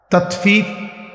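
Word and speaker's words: تطفيف: তাতফিফ বাংলা শব্দটা বুঝছেন উচ্চারণটা ত আকার তা ত তাত ফ দীর্ঘিকার ফি ফিফ এই তাত ফিফ এই হলো শব্দ অর্থ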